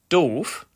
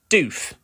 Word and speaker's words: doof: double O is DF meaning stupid its correct pronunciation is DF but it's often mispronounced doof by English Learners nothing backfires more quickly than